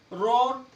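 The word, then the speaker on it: roar: Next, जब ओ के बाद ए आए, जब ओ के बाद ए आए, जब भी ओ के बाद ए आओगा तो ए साइलेंट होगा। रोर, रोस्ट, रोम, ओ के बाद ए आया हुआ है तो ए साइलेंट।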